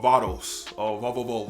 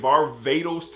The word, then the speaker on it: Varvatos: of John Varvatos, or Varvatos. So I've seen so many people pronounce the name differently, but it looks like Varvatos to me, and that's what I'm going with.